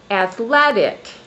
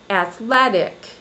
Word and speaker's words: athletic: For example, athletic. On the second syllable, my voice goes up in pitch or frequency or highness level and up in volume. Athletic.